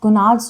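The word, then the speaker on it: gonads: अच्छा हां गुनाड्स स्पेलिंग के हिसाब से जी ओ एन ए डी एस इट्स गुनाड्स।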